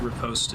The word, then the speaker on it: riposte: We looked that up during Dark Souls, and both are valid pronunciations. I think Riposte is preferred.